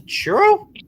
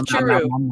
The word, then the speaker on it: churu: Are you feeding a cat to churro? No. What? What are you feeding? It's churu. It's yogurt for cats. Oh, I thought you said I thought you were just mispronouncing churro. No, churu. Churu.